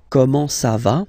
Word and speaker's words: comment ça va: Okay, comment ça va? Okay, you raise a little bit at the end.